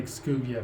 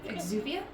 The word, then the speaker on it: Exuvia: I probably butchered that. I think it's Exuvia, Yeah. but I don't know for sure. Too quiet. Surely someone's gotta be guarding something as important as the Exuvia. Oh, we were both kind of right. I mean, you pronounce the X enough.